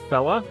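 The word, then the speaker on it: fellah: Uh the other one was fella. That's spelled F E L L A H.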